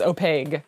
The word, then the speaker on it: opaque: e oh my God the pronunciation is opaque it is opaque the Q is the G opaque I am never saying